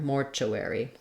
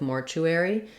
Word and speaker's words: mortuary: for the letters Ary another way that Americans will pronounce this is Mortuary Mortuary where instead of UR they have aware aware Mortuary I personally think I go with Mortuary I still there still